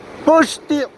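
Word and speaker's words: poxti: Poshti, se pronuncia la X, poshti.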